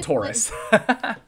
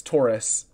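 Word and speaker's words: torus: 3D and we don't actually it's called a Taurus oh okay I feel like in my 3D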